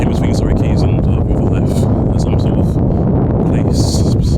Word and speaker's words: Rotherhithe: Surrey Quays, I know Wothenhithe a little bit. I keep calling it Wothenhithe instead of Rotherhithe, but I think it's just me mispronouncing it.